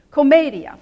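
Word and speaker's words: Commedia: Beatrice three in English Comedia four syllables in Italian comedy three syllables in English even the name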